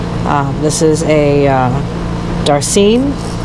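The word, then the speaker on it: darcine: this is a uh darcene believe that's how you pronounce it d a r c i n e and it is a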